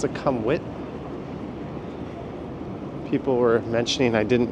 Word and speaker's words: Sukhumvit: I mean, if you really want to be anal about Thai pronunciation, it's not succumbit like every YouTuber says, right? It's succumwit.